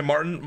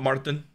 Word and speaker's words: Martin: You can say Martin, but Martin. You gotta like. Martin. Yeah, you gotta like pronounce the. You put a little on the RT. Little, yeah. Otherwise, I sound like an American.